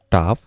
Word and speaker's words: tough: প্রথম যেটা সেটার উচ্চারণটা কিন্তু হবে এইটা টাফ, এর পরের এইটুকুর উচ্চারণটা হবে বাউ, এটা হবে কাফ, এবং এখানে যেটা এটা হবে ডো মানে হলো ময়দা।